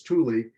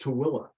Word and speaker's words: Tooele: e-l-e-t-o-o-e-l-e and of course when people look at it they think it's truly and it's locally pronounced tooilla I don't know how you get to Willa out of uh that spelling but that's the colloquial name so you can go